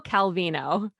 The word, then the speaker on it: Calvino: I say it right half the time, it's Italo Calvino. There, I think that's right.